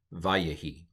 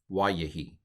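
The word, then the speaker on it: וַיְהִי: Anyway, so we have patak, we have a vocal shva, and we have a Heuric yod, vayehi. Or if you want to go with the old pronunciation, wayehi.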